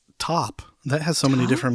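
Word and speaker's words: TØP: So top is it t like a t-shirt o p or 21 pilots or something else. 76% of people said top.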